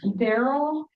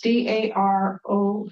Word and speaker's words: Darold: Allen, Daryl Cornell, are you in the audience? No, I didn't say it right. It's Darold.